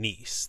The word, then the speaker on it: Kneese: I am your host, Kneese. The K is silent.